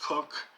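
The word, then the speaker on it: Coke: work of sir edward cook spelled c-o-k-e pronounced cook one of the greatest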